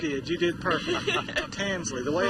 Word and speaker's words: Tansley: Tansley, the way it's spelled.